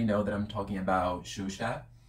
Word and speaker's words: Xuxa: And you already know that I'm talking about Xuxa. That's how we say her name in Brazil. I know it's kind of difficult to pronounce it, but it's like Xuxa, Xuxa.